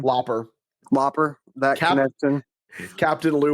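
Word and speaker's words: Lauper: Uh probably Captain Lou Albando and the Cindy Lob Lopner. Can you say her name? Looper.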